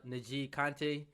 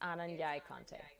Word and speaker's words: N'Jie Konte: a special guest um her name is anna naji kante uh did i say that correctly no but i wouldn't um i wouldn't expect you to on the first go how what's the correct pronunciation it's ananya kante okay all right i got it now anna